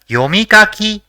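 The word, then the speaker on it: よみかき: see the next word the first character in the word is Yo the second is me the third is Ka and the fourth is Ki so it will be pronounced as yomikaki which means read and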